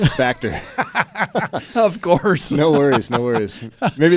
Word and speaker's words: Factur: Or yeah, you definitely messed it up. It's Factur.